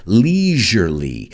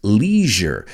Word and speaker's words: leisure: And if we look at the root, it's leisure, which is ocio. The British pronounce it leisure, que rima con pleasure. And we say leisure in the United States. So obviously that's the correct way.